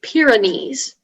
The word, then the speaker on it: Pyrenees: 61 your word is pyrenees um may i have all the information so pyrenees that's the only pronunciation noun french geographical name